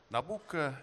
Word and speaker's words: Nabucco: знаменитой оперы джузеппе верди nabucco nabucco это вариант итальянского произношения имени царя навуходоносора 2 и опера целиком